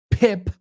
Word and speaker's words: pip: Pip rhymes with sip. Say them with me. No seep. No lip. See no lip. Sip. To dip. Right. to flip, right? So, if you can make that I sound then you can pronounce that right every time.